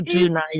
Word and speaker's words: Odunaiya: It's a special I've name, been is unique, struggling to pronounce this name. and Titilayo Odunaiya. Yes, it's she is Odunaiya.